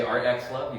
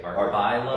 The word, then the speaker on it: Art X Love: love you can say art X love you can say art by Love by love art times love okay I'm here with